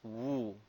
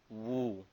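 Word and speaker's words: 戊: The mountain is pronounced as Wu. Wu.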